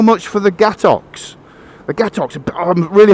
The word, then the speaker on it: gâteau: We do not pronounce it gâteaux. With the ox is French is so this cake is called gâteau.